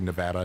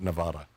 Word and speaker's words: Nevada: if you notice Danielle I pronounce it correctly Nevada not Nevada I do appreciate that